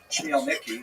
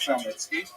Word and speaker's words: Khmelnytsky: You may have seen his name in the literature spelled with a CH, that's a Polish spelling, Chmielnicki, but it's pronounced Khmelnytsky. And he led a band